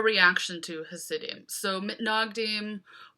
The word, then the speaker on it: Mitnagdim: to his city so manag team or as the hebrew would have been pronounced by Jews living in Eastern Europe nice nug deem this just means the